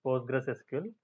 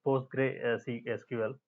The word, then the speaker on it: PostgreSQL: postgres.service postgresql.service it's a basically post i i pronounce like postgresql but it's a post gray c sql so just uh just get used to that